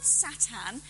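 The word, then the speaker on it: שָׂטָן: Actually, the word Satan, and I'm saying it in the Hebrew pronunciation rather than English so that you're clear that I'm talking about this Hebrew character, the word Satan means the accuser, the one who asks questions.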